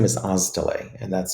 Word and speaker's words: Oztalay: I H, and my last name is Olay, and that's spelled O.